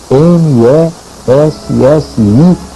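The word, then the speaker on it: Messiaen: harmonias chamado Olivier mess escreve Messi m e s s i a e n Messia digamos assim que se pronuncia Messi esse era um compositor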